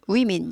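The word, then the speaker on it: women: 젊은 여성들이의 먼 복수형은 위민 이렇게 되죠 예가 붙는게 아니라 불규칙으로 그다음에 발음이 워에서로 바뀌죠 만이었는데 민으로 바뀌어요 똑같이인데 위민 민 아니에요 위민 위민 이죠 그래서 두 명의 젊은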